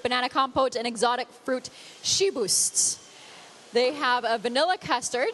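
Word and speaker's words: Chiboust: well now it's not here anymore you could pronounce it the way you were but if he was here saying she boost for sure so that's our educational lesson for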